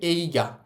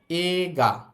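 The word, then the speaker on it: 映画: এইটার উচ্চারণ এইগা না বলে এটার উচ্চারণ বলব আমরা এগা।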